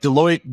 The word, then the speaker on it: Deloitte: Yeah, Deloitte even rhymes with exploit.